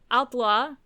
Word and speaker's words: Haute-Loire: When establishing a headquarters for the Maquis in a barn in Haute? Haute? I don't think they pronounce the H. I think it's Outlaw.